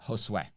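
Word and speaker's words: Josué: It's pronounced Josue.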